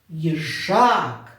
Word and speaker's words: їжак: будь ласка це запам'ятайте поставимо наголос в слові їжак їжак наголос падає на другий склад їжак на А дуже добре Тепер в